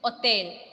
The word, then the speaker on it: hôtel: In English, we will say, in French, the pronunciation is hôtel.